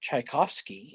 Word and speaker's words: Tchaikovsky: if at the beginning instead of tch you just use a ch which still gets you the cha sound you're going to get